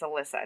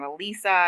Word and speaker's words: Alyssa: I'm like, it's Alyssa. It's not Elisa. It's not Eliza. Like, it's not Alicia. It's Alyssa. And they're like, "Oh, we have an Alyssa here already."